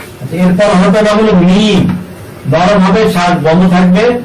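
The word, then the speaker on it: ميم: এরপর হরফটা নাম হলো মিম, নরম হবে, শ্বাস বন্ধ থাকবে, মাকড়াস 15 দিয়ে হরফটাকে উচ্চারণ করতে হবে।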